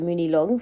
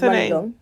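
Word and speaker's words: Muni Long: and my sister were calling her like Muny long for the longest and like her name is Money Long Money long which makes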